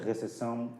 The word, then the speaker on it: recepção: Nós escrevemos recepção com pé, mas podemos pronunciar receção, né, fazendo com que o pé seja suprimido, seja então mudo, obviamente, né?